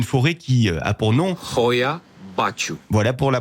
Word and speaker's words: Hoia Baciu: la crainte une forêt qui a pour nom royat pacho voilà pour la prononciation officiel ces bois ont un surnom très